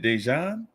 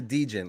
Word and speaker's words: Degen: to pronounce the name is it dejohn no it's knights of knights knight's a degen like degenerate so his knights of djinn